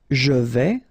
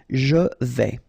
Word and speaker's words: je vais: Je vais, final S not pronounced here, and remember when you combine this A and E together, you get the sound E, so really open. Je vais.